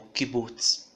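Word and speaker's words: קובוץ: E a vogal classe U é o kibutz, que tem o som de U como na palavra susto.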